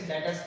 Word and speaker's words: debtors: बट ये बी ना यहाँ पे साइलेंट है, ये डेटर्स बोला जाता है, इसे डेटर्स पढ़ेंगे हम।